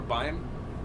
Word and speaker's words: beim: Or Beim?